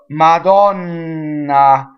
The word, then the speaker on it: Madonna: way up there uh Madonna so the distressed Oh Donna is open a Lamont oh man